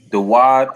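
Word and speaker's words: דוד: Dawad is how you say David in the Hebrew.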